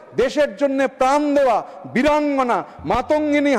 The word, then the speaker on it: মাতঙ্গিনী: জন্য প্রাণ দেওয়া বীরাঙ্গনা মাতঙ্গিনী হাজরার নাম বিকৃতি করে উচ্চারণ শুরু হলো মান্তাগিনী হাজরা, মান্তাগিনী হাজরা।